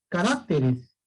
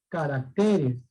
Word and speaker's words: caracteres: Carácter, ¿no? Es grave, se pronuncia carácter, pero cuando lo pasamos al plural, no se dice caracteres, no se dice caracteres, la palabra es caracteres, ¿correcto? Eso pasa con algunas palabras, que cuando se pronuncian cambia la posición del acento. Carácter, singular, y plural, caracteres.